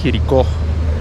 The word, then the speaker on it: Jericó: свикна да го кажа ударението е на ото херико това е централният площад на херико херико херико херико херико